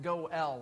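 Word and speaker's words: go'el: bit about what the go l was the go l his role it's it's spelled in english g-o and then a little accent mark and l but pronounced go l like noel the kinsman redeemer the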